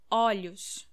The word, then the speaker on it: olhos: Olhos. The pronunciation changes a lot. Olho, olhos.